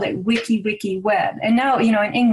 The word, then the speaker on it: wiki wiki: And they say it like this, wiki wiki.